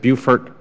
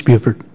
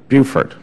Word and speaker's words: Beaufort: to butcher the name I say Beaufort is at Beaufort Beaufort general roebling it's a nice Buford Buford okay and I saw what